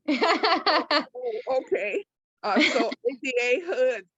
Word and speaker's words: Hud: So ADA Hood, H-U-D. You pronounce it Hood? Yeah, HUD, H-U-D, 1D.